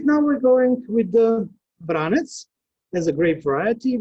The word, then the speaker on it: Vranec: The name Vranec, as pronounced in Montenegro, Serbia, Bosnia and Herzegovina, Croatia, and Vranec, we said in North Macedonia. There's also in Kosovo, Vranec, I think. That is pronounced this grape variety.